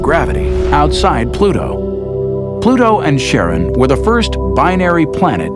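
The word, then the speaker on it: Charon: in greek mythology but preferred to pronounce it sharon more like his wife's name charlene from the motions of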